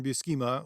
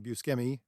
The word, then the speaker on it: Buscema: I am trying to build a book that looks very much like your Roy Thomas, John Buscema, or John Buscemi, depends on how you say it, run of Conan the Barbarian in Marvel, which lasted for years and years and years.